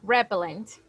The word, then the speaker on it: repellent: Ah, or we say repellent. What do we say? Repellent. Let me help you. Repellent. Repellent. Repellent. The stress goes in the second syllable.